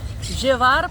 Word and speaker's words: llevar: quer pedir para levar gevar tem que gevar é para gevar assim que você vai falar tá bom gevar Por que que é gevar porque é com dois eles Olha tudo isso que